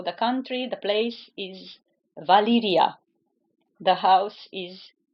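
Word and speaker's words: Valyria: valion one so the country the place is Valia the house is valion okay another one I heard pronounced in different ways isas Dragon they say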